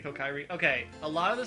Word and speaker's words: Kokiri: a lot to bring how do you say that word cokery uh i always said it kokiri kokiri okay a lot of